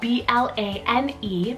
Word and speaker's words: Blane: son rey i have the name blaine spelt b-l-a-n-e blane this one's a completely genderless scottish name